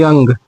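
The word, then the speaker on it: young: तो इसका इसका पहला नियम है दोस्तों कि जब किसी वर्ड में ओ के बाद यू आए तो ओ का उच्चारण नहीं होता है।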